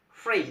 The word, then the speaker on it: free: Free. The word free you must pronounce like this. free, like your lower lips going inside your upper teeth.